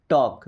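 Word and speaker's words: talk: You should टॉक टू हिम। You means होता है आप या आपको शुड। शुड मींस चाहिए टॉक। देखिए यहां पे एल साइलेंट है।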